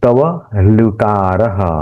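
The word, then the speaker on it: तवल्कार: तव तव लुकारह ल यह जो र है तो उच्चारण अल तवलकार ये तवलकार ये ल आधा हुआ और वो दूसरे के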